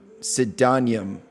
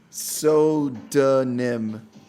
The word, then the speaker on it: pseudonym: Pseudonym. Pseudonym. It's like soda and nim.